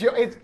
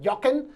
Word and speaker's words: Jochen: It's Jochen. So, you can pronounce it Jochen.